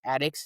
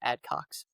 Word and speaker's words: Addex: I believe that is how you pronounce his last name is Addex, not AdCox for reference.